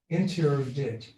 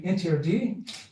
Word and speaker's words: interdit: Everywhere I went, I'd go and there'd be a sign, and it would be, while I was pronouncing it, I didn't really know, interdit. Well, it's actually interdit, and I later discovered it means forbidden.